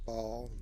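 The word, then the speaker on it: Baal: These may draw ball or bale. People pronounce it differently. It's spelled ball, but I think most people pronounce it bale, like B-A-L-E, but it's spelled B-A-A-L.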